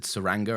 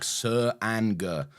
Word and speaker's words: Tsuranga: Yeah, I wrote it down phonetically because at one point they said Tsuranga, and I was like, Tsuranga. Tsuranga. Yeah. Like a ranger.